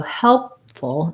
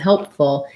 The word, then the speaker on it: helpful: look at that word the question is whether the p sound is stopped so helpful and helpful yes if i'm just saying help i'm going to let that pee out help by itself if